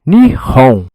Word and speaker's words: Nihon: ele lê esses caracteres, ele diz nihon, né? Ni ele não diz Japão, como nós dizemos aqui na língua latino, mas ele diz na língua latina, mas ele diz nihon.